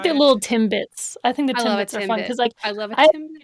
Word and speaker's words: Timbits: because they call them Tim bits it's one it's one it's one syllable Timbits we don't pronounce our T's in Canada Timbits all I know